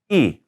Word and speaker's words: y: y by itself and we pronounce it e like an i so we're going to say it is two and five and it would look like this son las dos e cinco okay let's let